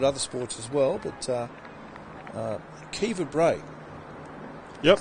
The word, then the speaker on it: Kiva: sports as well, but Kiva Bray. Yep. It doesn't look like it's, if you'd say it, Kiva, but it's Kiva Bray. That's how you pronounce it, yep, Irish.